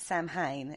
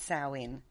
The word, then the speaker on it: Samhain: So anyway, it's also known as Samhain or Sam. A lot of people pronounce it Samhain, and it's not. It's Samhain.